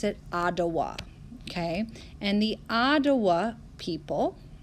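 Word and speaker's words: Odawa: like this with a t atawa but we pronounce it ah dawah okay and the ottawa people lived in other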